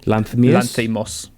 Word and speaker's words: Lanthimos: Lanthimos.